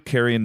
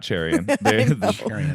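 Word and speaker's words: Carian: all but the two caran names that I wanted to mention because I like them it's not cherion it is actually spelled with a CA so um these were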